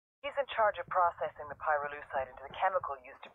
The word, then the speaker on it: pyrolusite: You know what pyrolusite is, right? Yeah, neither did I. Pyrolusite, key syllable pyro, by the way, is the shit they mine in Villa Verde province to turn coca leaves into high-quality cocaine.